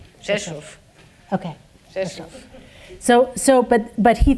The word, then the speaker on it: Rzeszów: You spell it RZESZ with an O with an accent. Rzeszów.